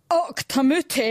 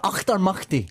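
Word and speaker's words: Auchtermuchty: All the way from Octamuti. Is that right? Nearly. It's the Proclaimers, Craig and Mutti. Charlie. Achtermachti. Achtermachti. You've got to get the phlegm in the back of your throat.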